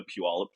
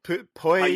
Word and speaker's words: Puyallup: I always love when I'm listening to podcast or something and they talk about Puyallup and they're just like, Poo Poy Poo Poy Poo Poy.